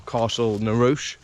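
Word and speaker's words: Castle Neroche: spring afternoon and I'm by Castle narosh or Castle narouche as the locals say it and I'm going to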